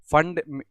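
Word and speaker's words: Pfund: your fund all right fund the p is silent here but you pronounce it as fund only all right the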